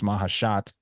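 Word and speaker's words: Maheshate: I just say Machete. I know it's Mahashat, but let's go Machete.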